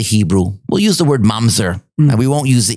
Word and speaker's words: mamzer: We'll use the word mamzer.